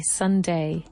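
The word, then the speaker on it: sundae: We say it with an a and an e. Sunday. S u n d a e.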